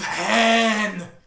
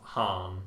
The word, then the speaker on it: Han: Isn't there Bigger Han as well?